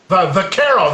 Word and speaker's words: Vaquero: I must be mispronouncing it. There's Guajiro, and someone just mentioned Vaquero. Vaquero, there it is.